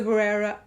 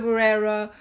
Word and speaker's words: Barrera: being involved and what happened with Melissa Barrera, or should I say Melissa Barrera, because I think that's how you actually pronounce it.